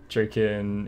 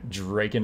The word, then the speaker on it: Draken: Draken is how it's said. Gotcha. Okay, Draken it is.